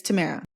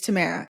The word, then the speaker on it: Tamara: right I would correct him every time it's Tamara it's Tamara it's Tamara and he would keep saying it